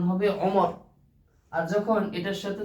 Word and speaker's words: আমর: তখন সেটা উচ্চারণ হবে ওমর, আর যখন এটার সাথে যখন র এর পরে যখন ওয়া থাকবে তখন সেটার উচ্চারণ হবে আমর।